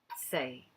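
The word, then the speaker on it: 四: the next one is say s e i say it's like a middle tone now say is four right we've got zero one two three four or lange say is if you probably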